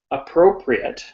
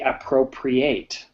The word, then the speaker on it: appropriate: different pronunciation okay so as an adjective we say appropriate as a verb we say appropriate okay right it's very